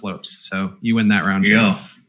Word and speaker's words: Lopes: Ian McCarthy saying that he grew up playing with Tim Lopes and his brother Christian, and it is in fact pronounced Lopes.